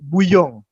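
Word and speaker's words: Bouillon: Nah, ada juga misalnya yang dipimpin oleh kakak beradik nih, God Frey de Buyong. Nah, tulisannya bulion, bacanya buyong. Emang kalau bahasa Prancis tuh agak aneh gimana ya.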